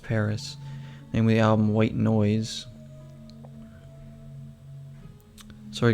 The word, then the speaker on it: PVRIS: recommendation there by a band called paris or pvris it is pronounced paris namely album white noise